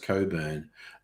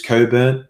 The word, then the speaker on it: Cockburn: worked oh yes stella the name cockburn is actually pronounced coburn um and i learned